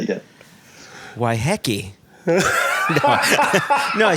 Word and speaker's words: Waiheke: it's of course a mai word the mai pronunciation is why hecky hey nine times out of 10 you'll hear people say why hii and so which is what I said okay